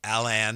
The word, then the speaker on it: Alan: I actually think the two ways should be pronounced differently, but it's very subtle. Alan and Allan.